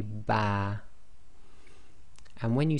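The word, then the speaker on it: ب: meme when you say ba your lips come together but it's the wet portion or the inner parts of your lipss actually touch so say ba and when you say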